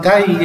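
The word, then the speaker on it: taille: جوم يعني استيكا، ان تاي كرايون، تاي تاي، محدش انطقها تل ولا تاي، تاي تاي، هنا الاي ال ال اي منطقه اي، تاي تاي تاي كرايون تاي.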